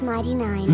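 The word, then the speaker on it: Mighty Nein: Also, it's pronounced Mighty Nine. Nine. But it's spelled like the German word for no.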